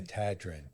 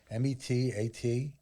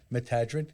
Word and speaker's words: Metatron: I was told that that's how his name is supposed to be pronounced. Okay. Metadrin. But most people... And when you look at it, M-E-T-A-T-R-O-N, Metadrin is correct.